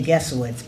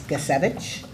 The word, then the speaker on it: Gesevich: Stanley Gus, well, I say Gesowitz, but it's Gesevich Jr., if I say it correctly.